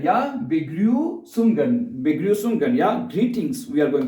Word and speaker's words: Begrüßungen: It is not actual B, so it is written like a B, and so but it's pronounced like double S. Double S. Okay. So Begrüßungen, yeah, Begrüßungen, yeah, greetings.